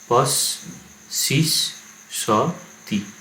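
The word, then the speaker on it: পস্সিস্সতি: এটা দেখতে একটু কঠিন লাগছে, তো যখনই হসন্ত দেওয়া থাকবে উচ্চারণ কীভাবে, হসন্ততে গিয়ে একটা সিলেবেল থামবে। পস শিস স তি, দ দিস স তি মানে এই হসন্ত জায়গায় থামতে হবে।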